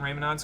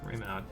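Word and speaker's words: Reymanaud: Raymonod's Cathedral. Did I say that right? Let me see here. Hold on. Yes, I did. Raymonod. I think that's how you say it anyway.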